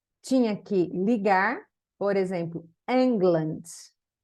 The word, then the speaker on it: England: sílaba tônica das palavras se vocês observarem England ele começou com a bolinha grande e diminuiu anglands e ele começou fraco e terminou intenso então repetindo comigo England só tem mais um